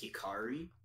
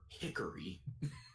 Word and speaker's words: Hikari: I don't doubt that Kari's name in Japanese is Hikari. But in the dub I watched, they call her Hickory. Huh. Which they're trying to say Hikari, but they're saying it wrong.